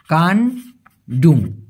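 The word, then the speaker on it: kandung: বলি সেক্ষেত্রে হবে কান্ডুং কে এন ডি ইউ এনজি উচ্চারণটা হবে কোথায় লেখি কোথায় লেখি একটা মিনিট উচ্চারণটা হবে কানডুম কানডুম মানে হল আপন এইজন্য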